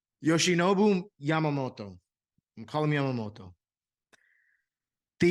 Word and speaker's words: Yoshinobu Yamamoto: Yoshinobu Yamamoto. Like that little accent at the end. Yoshinobu Yamamoto.